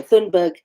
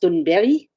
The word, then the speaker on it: Thunberg: Well, we pronounce her name Greta Thunberg, but in Swedish her surname is pronounced Thunberry.